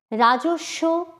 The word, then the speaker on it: রাজস্ব: রাজস্ব, রয়াকার বর্গীয় জ দন্তস্বয় বফলা। পক্ক, প কয় বফলা। এগুলোর সব ক্ষেত্রেই বফলার ব উচ্চারিত হয়নি, কিন্তু তার আগের ব্যঞ্জনটি দ্বিত্ব উচ্চারণ হয়েছে।